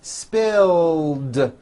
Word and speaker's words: spilled: I tagged the clothing spill ends with a voiced L sound spill so it becomes spilled I spilled the juice trim becomes trimmed